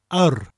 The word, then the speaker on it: yr: Now, yr, spelt yr, is the word for the, and is pronounced like a, that people say when they're unsure about something. A, but with a rolling r sound after it.